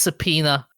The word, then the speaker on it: subpoena: got subas oh by by the way it's pronounced subpoena yeah yeah I did I say that earlier